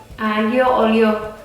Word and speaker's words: aglio olio: Tapi kalau di bahasa Itali, kalau ada huruf G, L dan I, itu kita bacanya I. How? Li. Okay, that's so difficult, and even until now, I cannot say it correctly. Li. Aglio olio.